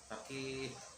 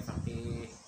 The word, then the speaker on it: faqih: Orang ahli fikih jadilah dia faqih. Faqih. Jadi bacanya faqih. Kan gitu ya.